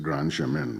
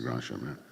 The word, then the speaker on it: Grand Chemin: I hope they don't pronounce it Grand Chemin, but being French, I have to say Grand Chemin.